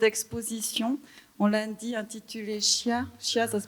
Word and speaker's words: Scia: On l'a dit, intitulée Scia, ça se prononce comme ça, del Monte, donc les traces du Monte Verita aujourd'hui.